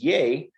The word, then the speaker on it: ye: uh and then uh after 2010 they changed it to just be pronounced as yea uh in line with the way that it's pronounced when you're you know saying most words the w used